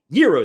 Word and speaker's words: gyros: then mustaki authentic Gyros Euros I'm sorry it's not Gyros all these Euros I was calling him a gyro it's a silent G it's a Euro right there in Logan